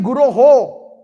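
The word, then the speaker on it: guroḥ: Some devotees sing it as Vande Guru Sri Charnarvindam. No, Guroho, it's plural.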